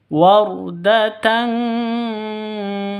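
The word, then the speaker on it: وردةً: itu Tan wardatan kattihan tanwin bertemu dengan Kaf samar didengungkan siap-siap ke huruf kafnya tanwinnya ditambah dengan ng makanya bacanya ward tang tang seperti itu ya seperti mengucapkan tang ya bukan Tan tapi tang ng wardatang seperti itu fakanat wardatan kaddihan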